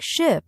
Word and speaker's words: ship: For example, words like ship and sheep. Many learners pronounce them the same, but ship has a short I sound, while sheep has a long I sound.